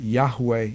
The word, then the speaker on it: Yahweh: About the correct pronunciation, I believe that Yahweh is correct.